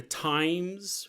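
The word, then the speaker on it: Thames: a million dooll apartment looking out over the times River that's how you pronounce that right the times I don't think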